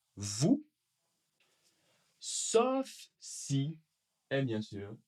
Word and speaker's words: vous: Alors, pareil comme avec nous, le S n'est pas prononcé. vous, sauf si et bien sûr il y a une voyelle.